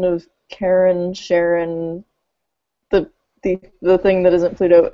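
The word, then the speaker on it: Charon: recently like understanding the reasons why Karen is a possibility but I did understand from the press press briefings yesterday that the discoverer of Sharon pronounces it Sharon or something like that so so I'm going to go with whatever he says and maybe complain about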